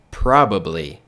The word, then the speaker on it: probably: Você pode pronunciar ela normal também, né? Sem ignorar esse A e esse B. Então fica probably, probably, probably, probably, probably.